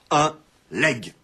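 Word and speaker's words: legs: La tendance contemporaine à prononcer la consonne finale des monosyllabes, out, but, jointe à l'articulation en G de la série, légué, légataire, a abouti à la prononciation actuelle et courante, un leg.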